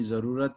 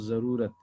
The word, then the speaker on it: ज़रूरत: ज़रूरत, मैं बोल रहा हूँ ज़रूरत, जरूरत नहीं। वैसे तो ज़रूरत में आप जरूरत बोलोगे तो भी कोई अर्थ परिवर्तन नहीं हो रहा, लेकिन उच्चारण सही होने के लिए, उसको जस्टिफाई करने के लिए ज़रूरत बोलना है, ज़रूर बोलना है।